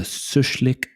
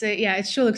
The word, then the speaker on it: Schulich: LinkedIn, you went to the Sushlik Business School. Is that right? I've pronounced that terribly, haven't I? It's Schulich School of Business.